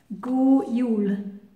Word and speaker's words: God jul: And that's spelled G-O-D, God, and it's got nothing to do with God. Go means good. And Yule is a bit like Yuletide, J-U-L, that means Christmas. So Go Yule.